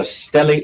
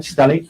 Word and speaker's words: stellate: head, and you refer to it as a stellate laceration, is that right? Yes. And am I pronouncing that right, stellate?